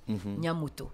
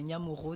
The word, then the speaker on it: Nyamoro: Nyamoto, pardon. Enfin, c'est Nyamoro dans ma langue. C'est la prononciation.